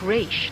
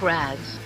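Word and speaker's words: Ra's: to say it right the father's name was pronounced rich not rags Thank You Thalia thank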